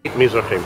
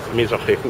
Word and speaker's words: Mizrahim: Onde a pronúncia correta é. Mizrahim, Mizrahim, Mizrahim.